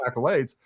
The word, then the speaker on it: accolades: So, you know, she is the chief idiot surrounded by other idiots that don't even know that accolades is supposed to be pronounced accolades uh or that macabre is actually supposed to be pronounced macabre.